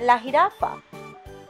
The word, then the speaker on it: jirafa: Okay, now we do the spots and let's talk about la jirafa. Like how you see is J is pronounced like H in English.